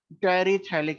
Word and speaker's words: terephthalic: ये PS silent है, टेरिथैलिक acid.